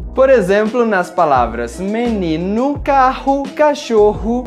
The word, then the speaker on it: menino: Já a letra O, quando está no final da palavra, tem o mesmo som da letra U. Por exemplo, nas palavras menino, carro, cachorro e no meu nome.